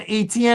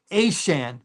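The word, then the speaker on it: Etienne: They got they got him uh Travis uh it's not ATN anymore. It's uh Aan. That's how he pronounces it now.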